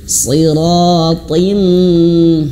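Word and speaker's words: صراط: Contohnya ini si bukan hanya sekedar si dan juga ini juga huruf th bukan hanya sekedar ti seperti huruf ta biasa bukan tapi th gitu ya siratim.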